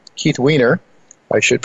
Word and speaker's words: Wiener: idea whose time has come David Jensen Keith whiner Keith Wiener why should pronounce his name correctly and Michael Oliver return